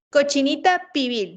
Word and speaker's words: cochinita pibil: La cochinita pibil también es uno de los platillos más conocidos, ¿Cómo que se es pronuncia? cochinita pibil.